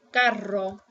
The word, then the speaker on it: carro: R, you roll the R when your word starts with an R or when there's two R's. So if you have two R's or a word starts with the letter R, roll it. Whoops. So for example, if I have the word carro, I pronounce it carro.